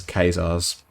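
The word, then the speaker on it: Caesar's: site presumably because it's kazaar's legion armor and folks i'm aware that that's a weird way of pronouncing it but that's how it's pronounced in this game for some weird reason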